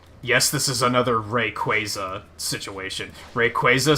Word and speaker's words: Rayquaza: the yes this is another Rayquaza situation Rayquaza sounds stupid I'm not calling it Rayquaza it's Rayquaza whoa I'm willing